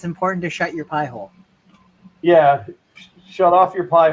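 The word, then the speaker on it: Pi-hole: me yeah if you guys haven't looked into pie hole and that's how it's spelled p i h o l e pie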